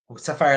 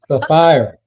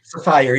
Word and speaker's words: Sapphire: I am the chairman for Sapphire Life, Inc., Sapphire Life Management, Inc., which is a nonprofit organization that deals with youth and um community development. Okay, so I was wrong. It started with an S. Sappire, right?